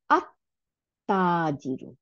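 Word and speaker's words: التاجر: এই লামটা আর উচ্চারণে আসবে না, এই লামটা গিয়ে তার সাথে যুক্ত হয়ে যাবে, যুক্ত হয়ে কি করবে? তাকে সাদ্দা দিয়ে দিবে। তাহলে সাদ্দা দিলে আমরা তখন কিভাবে উচ্চারণ করব? আত্তাজিরু, তাহলে লাম উচ্চারণ করলাম না কিন্তু, আত্তাজিরু।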